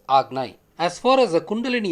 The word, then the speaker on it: Ajna: The chakra is often written as Ajna but pronounced as Agnai.